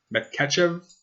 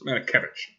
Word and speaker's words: Matakevich: I'm going to screw up his last name. Matkachev. Matakevich. That's what it is. Matakevich. I'm trying to read it phonetically.